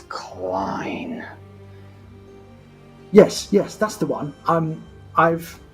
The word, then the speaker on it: Clien: It's Clien.